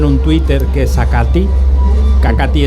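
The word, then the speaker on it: Acathi: Acati es A-C-A-T-H-I. Sí, que al pronunciarlo al principio, Uriel, yo pensaba, a ver si es Acaci o algo así.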